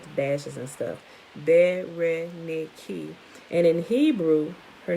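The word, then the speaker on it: Βερενίκη: Of interest is that Bernice's name in Greek is Bernice, pronounced Bereniki, and it actually sounds it out like that with the dashes and stuff. Bereniki.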